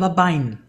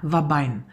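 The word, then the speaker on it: Ouabain: Da wird das zum Beispiel so geschrieben, OU, also Otto, Ulrich, Anton, Bertha, A, Anton, Ida, Nordpol, wird aber ausgesprochen Wabein. Ja, Wabein.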